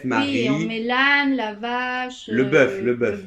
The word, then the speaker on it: la vache: Thì cái đấy là nó đọc kiểu phiên âm thôi, còn từ đúng của nó sẽ là la vache.